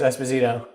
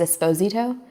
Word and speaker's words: Esposito: What type of last name is Esposito? It's Italian. Italian. Yes. Very cool. It's supposed to be pronounced Esposito, but that's Esposito. too dramatic for me.